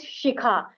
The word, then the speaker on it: Shikha: upper part of him people pronounce sh as s as in my name my pet name is shikha so many people they pronounce my name as shikha so my name is